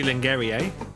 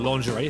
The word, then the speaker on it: lingerie: valentine's day isn't it not the sexy lingarie yeah or lingerie if you're gonna say it correctly although have you ever